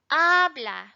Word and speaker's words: habla: And we notice habla. Where's the stress? The emphasis. Habla. It's in this first syllable.